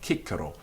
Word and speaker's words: Cicero: For example, Cicero is always in Greek Kikero, so we knew that it was K.